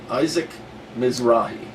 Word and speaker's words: Isaac Mizrahi: said in Reverse let me show you the Isaac Mizrahi that's how to pronounce his name okay here we go Isaac